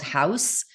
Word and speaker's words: Houzz: There's a lot of pictures out there that I don't know if you've ever gone to a site called House. It's spelled Houzz.